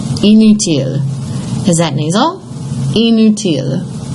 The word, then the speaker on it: inutile: Inutile. Inutile. Is that nasal? Inutile. It is not, because again, you have I-N-U, you have to imagine the I-N-U, you have two vowels.